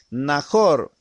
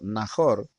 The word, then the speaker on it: Nahor: Nahor prácticamente así se pronuncia la palabra en hebreo, Nahor, era hermano de Abraham.